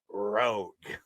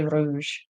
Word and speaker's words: Rogue: the triple threats Dalton say it right Rogue yes R do rogue man that and and'll always say Rouge and after the show